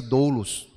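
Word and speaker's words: doulos: e essa palavra ela em grego se pronuncia dolos que também significa escravo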